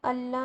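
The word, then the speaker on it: ألا: कर दिया कि यह अल्ला हो गया नून को जो है ना इसको प्रोनाउंस नहीं किया और नून को हटा के और इसको लाम डबल हो गया नून की जगह क्योंकि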